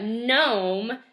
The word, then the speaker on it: gnome: type of character but gnome has a silent G it starts with the